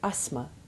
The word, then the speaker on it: asthma: But note that the th remains silent in asthma and asthmatic.